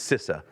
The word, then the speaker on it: CISA: And this is where you get into, CISA, however you want to pronounce it, CISA. It's CISA.